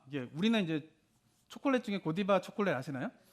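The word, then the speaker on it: Godiva: 우리는 이제 초콜릿 중에 고디바 초콜릿 아시나요 예 그 고디바 초콜릿이 여기서 유래된 그런거든 우리는 프랑스 발음을 하면 고디바고 영어 발음은 고다이바 이렇게 되는데 그 여인은 레이디 고다이바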